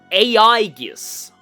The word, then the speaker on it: A.I.G.I.S: name in voice acting, this movie is actually pronounced AIS, which is also kind of interesting because in